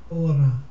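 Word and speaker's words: ὥρα: Ora, oras, ora, oron, ore, oron, ores, oras. Okay, it's not pronouncing the H sound, the rough breathing.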